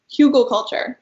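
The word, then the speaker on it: Hügelkultur: this page about Google Google culture I believe it's pronounced which means Hill garden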